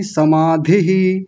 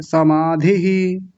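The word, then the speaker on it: समाधिः: ताव सविच च समाधिह समाधिह ऐसा नहीं समाधिह समाधिह विसर्ग को बाद में मत बोला कीजिए उस इ के साथ ही ले जाइए समाधिह समाधिह हां जी बढ़िया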